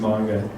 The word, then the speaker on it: manga: I hear it saying manga a lot, but that's the American version, and that's fine. But when you go to Seattle and stuff, you'll hear people saying manga. Just that manga.